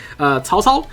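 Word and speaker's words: 曹操: names so for example I believe Taotao is in this and I don't know why I'm pronouncing it with an accent because I can actually say it properly tall tall which is actually the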